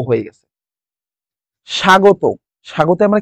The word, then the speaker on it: স্বাগত: সেজন্য ও হয়ে গেছে স্বাগত স্বাগত আমরা কি শিখেছি যদি ব ফলা শুরুতে থাকে তার উচ্চারণ হয় না আর দন্তস টা তালব্যস হয়ে গেছে সাগ ত হয়ে গেছে যদি শেষে